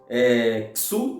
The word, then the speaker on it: Shu: são afrontados os deuses Sul né que se escreve Shu que é o Deus